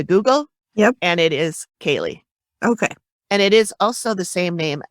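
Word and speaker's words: Caeleigh: her from behind wow so next we meet kaylee who her name is spelled in like the irish or scottish way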